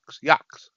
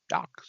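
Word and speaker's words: YOOX: G-Man, I don't know how to pronounce Y-O-O-X. Yox. Yox.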